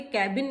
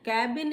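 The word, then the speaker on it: cabin: फिर आ जाता है भाई सर के कैबिन में नहीं जाना है, उनके कैबिन में बैठे हैं, कैबिन में नहीं जाना. कैबिन is wrong pronunciation. This is केबिन. केबिन, केबिन, केबिन, नॉट कैबिन, केबिन.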